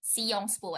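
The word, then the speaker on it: Sciences Po: p o well actually we maybe as an English education we say it as Science school but it turns out they spell it as like seong spool and in seong spool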